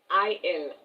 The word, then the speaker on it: il: I l.